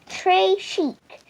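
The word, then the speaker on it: très chic: it like a bracelet tashik you say it like this Trey Chic it means very fancy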